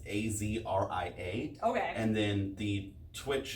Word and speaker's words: Azria: It's Azria.